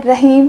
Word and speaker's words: Rahim: राहिम का मतलब अगेन रहम करने वाला।